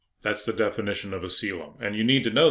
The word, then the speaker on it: coelom: within the body, and that's known as a coelom. That's how you pronounce that, coelom.